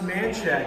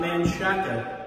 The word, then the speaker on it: Manchaca: long residences on Manchac it's pronounced man check and not man shotgun fYI little fun fact